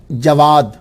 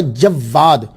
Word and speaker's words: جواد: امام الجواد، امام التقی، یہ الجواد جو ہے ایک تلفظ ہے جواد، واو کے اوپر سمپل زبر، جواد، جواد بغیر شد کے، تو اس کا معنی ہوتا ہے سخی۔ دوسرا پروننسیشن تلفظ جو ہے وہ ہے جواد، واو کے اوپر جو ہے وہ شد ہے، اس کا معنی ہوتا ہے بہت سخی۔ تو میرے نزدیک جو